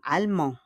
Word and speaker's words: allemands: Mais ils sont allemands. Allemands. On ne prononce pas le dièse.